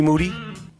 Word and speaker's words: Moody: Gloom tomb with uh G Moody last name rhymes with Duty uh the man who's